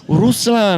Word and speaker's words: Ruslan: Thank you for pronouncing that right. Yeah, man. I watched the videos. I know. Ruslan.